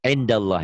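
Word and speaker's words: عِندَ ٱللَّه: Nih, indallah ya. Ditulisnya kan in, ada n-nya. Dibacanya jadi Indallah. kenapa? Nun mati ketemu dal.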